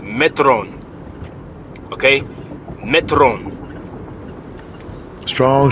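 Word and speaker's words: μέτρον: is pronounced Metro okay Metron strong G 3358 Metron Metron it's kind of like meter in a sense fulfill you up the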